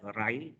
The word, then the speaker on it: Raj: Ini RAJ ini bacanya Rai.